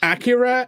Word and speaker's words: Akira: you guys have seen Akira right what's that it's pronounced Acura actually well I don't care